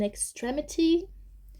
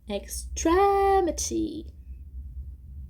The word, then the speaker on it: extremity: A gente não pronuncia extremity. A gente não pronuncia extremity. Nem extremity. Não é no mi. Obviamente é aqui, ó. Extremity.